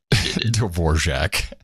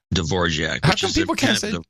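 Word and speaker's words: Dvořák: know your big boy Dvorak Dvorak Dvorak Russian pronunciation of the composer yes yes quite different okay and mindful of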